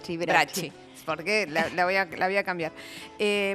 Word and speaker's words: Bracchi: Y bueno, estoy hablando de Bracchi, Brecci, vos me mirás cómo se pronuncia. Bracchi.